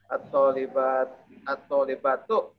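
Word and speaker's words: الطالباتُ: Ini bacanya tu atau ti? At-thalibatu. Tu. Bagus. Kenapa tu tidak ti? Atau karena tak? rofa, posisinya rofa.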